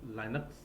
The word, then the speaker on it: Linux: ठीक है अभी देखिए लिनक्स या इसे लाइनक्स भी प्रोनाउंस करते हैं तो लाइनक्स का जो